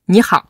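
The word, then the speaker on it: 你好: L'astuce, c'est, vous dites un peu vite, ni hao. Au lieu d'essayer de bien prononcer ni hao. Dès que vous prononcez vite, ni hao, vous prononcez correctement.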